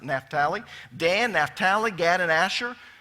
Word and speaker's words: Naphtali: very bright Dan Naphtali now we usually pronounce it naturally but they don't over in Israel today they pronounce it Naphtali dan Naphtali GAD and